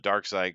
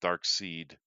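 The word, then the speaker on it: Darkseid: Of course, it's funny that we call it dark side because it really should be pronounced dark seed.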